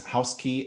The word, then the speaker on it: Housky: yes and it's housekey at uh housekey doio is the main URL housek key.